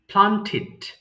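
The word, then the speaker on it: planted: রোপণ করা প্লান্ট প্লান্টিড প্লান্টেড আমার সাথে বলবেন হ্যাঁ আমি যেভাবে বলছি প্লান্টেড বললে প্লান্টিড বলবেন হ্যাঁ আমরা জানি টিডি থাকলে আমরা টিড উচ্চারণ করি সো প্লান্টিড এরপরে বলেন তো সবাই প্রার্থনা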